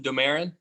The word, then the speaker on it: Domarin: So Domarin, is that, I guess that's how you pronounce his your main character's name? I pronounce him Domarin.